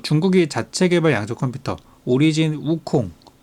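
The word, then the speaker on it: 悟空: 자체개발 양적 컴퓨터 오리진 우콩 그니까 어 중국 발음으로는 우쿵 한국말로는 공 손공 얘기하는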